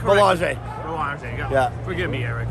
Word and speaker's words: Belanger: Huge assignment against Jaron Ennis, Eric Belanger. Did I get that right, Eric? Nope. Make sure, say it correctly. Belanger.